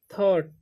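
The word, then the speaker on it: thought: ही थॉट, ठीक, TH से था, OU का हो जाएगा औ, और GHT से थॉट, ठीक। यहाँ पर जी का साइलेंट हो जाता है GH, ठीक।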